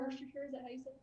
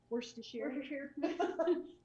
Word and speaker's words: Worcestershire: worcestershire sauce in there wash your hair worcestershire i know that's a tough one for a lot of people right they don't know how to say it so we put that